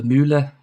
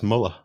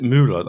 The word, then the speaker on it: Müller: I just realised I think I've always pronounced it incorrectly as Muller. Is it Müller then?